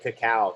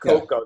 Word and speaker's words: cacao: chocolate tree or a cacao tree to actually produce is I'm so glad you said cacao the real name of chocolate is Cacao it's not cocoa that was a British